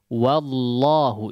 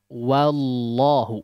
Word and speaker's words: wallahu: di awal pengucapannya ya Tapi ketika fathahnya itu diucapkan Ya ketika fathahnya terucap maka harus dibuka wallahu wallah jangan Wow langsung ke lam ya jadi wallahu tidak ya ini sudah beberapa